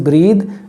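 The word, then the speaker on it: breathe: अगर आप कहते हैं ब्रेथ, वो नाउन है, उसका प्रोनाउंसिएशन और इसके में फ़र्क होगा। This is ब्रीद, that is ब्रेथ।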